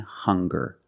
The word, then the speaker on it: hunger: single very good also we have these two words hungry and hunger they also make the same sound with the nasal sound and the hard G hung hung hungry remember